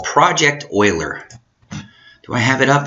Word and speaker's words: Euler: it's nice tell this story every time you pronounce the name Euler even though it looks like Euler and I was corrected in a math class